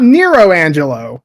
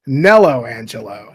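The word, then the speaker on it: Nelo Angelo: is I forgot it nello Angelo n Angelo yes not not Nero Angelo nello Angelo thank you Engish but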